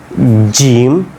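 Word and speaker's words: ج: লাগিয়ে পড়বেন জিম দেখেন জিম শক্ত করে একবার জিহ্বাটাকে উপরে একবারেই লাগায় দিবেন পুরোটাই জিম শিন ইয়া ইয়া ঠিক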